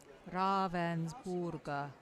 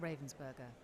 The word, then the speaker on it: Ravensburger: how are they doing raaven borer okay I must remember that how you say it not Ravensburger I'm so sorry hello